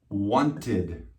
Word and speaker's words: wanted: Wanted. Why? Because it ends with a T. If it ends with a T, then it's id.